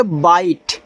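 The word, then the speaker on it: bite: तो यहां देखो लिखा है ना साइलेंट ई पैटर्न। जैसे लिखा है बी आई टी ई। तो इसको पढ़ोगे बाइट यानी कि बाइट।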